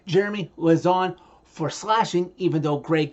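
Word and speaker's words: Lauzon: him say Jeremy loon it's Jeremy lazon okay not loon lazon okay how the heck hard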